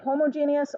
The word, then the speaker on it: homogeneous: homogeneous and heterogeneous and if you have problems remembering how to say it it's like the word genius like super smart right uh and so you're gonna either say homogeneous or you're going to